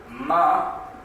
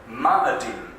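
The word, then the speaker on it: מאדים: Ma'adim. Ma'adim. It's almost like madam, isn't it?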